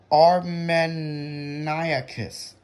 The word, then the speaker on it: armeniacus: I was pronouncing it wrong. It's Armeniacus.